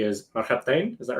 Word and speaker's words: Marhabtain: Matt sent me your website, which if I pronounce it correctly is Marhabtain. Is that right? Marhabtain, yeah.